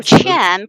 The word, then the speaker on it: Qian: learn Chinese right so Chen pronounced exactly the same as money in China so you can imagine